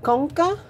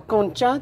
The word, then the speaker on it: concha: So next, we're gonna have an area called it can be either called concha or concha, depending on how you're gonna pronounce the word, right? Depending on where you may have learned this word from.